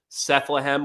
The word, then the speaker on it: Sethlehem: So if you want to find my That's where I'm most active is on X, and that's under Sethlehem, which rhymes with Bethlehem.